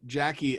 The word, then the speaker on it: Jacy: And then my Instagram is Jackie D. So a little unconventional. It's a JACYD. It's a hard C.